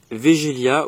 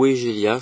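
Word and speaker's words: Weigela: Là nous avons un Wegelia ou Wegelia selon comment on le prononce, les deux termes sont bons.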